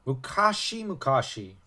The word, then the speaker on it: mukashi mukashi: long ago he began our mukashi mukashi because that's how it's pronounced in japan uh or once upon